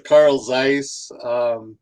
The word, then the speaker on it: Carl Zeiss: Yeah, it's actually Carl Zeiss. Oh, is that how It it's started pronounced?